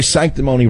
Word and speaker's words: sanctimony: and by the way sanctimony rhymes with phony and baloney you watch the phony